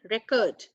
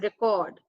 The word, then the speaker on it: record: So the pronunciation for this will be record. And the second one is noting down something. So it's record.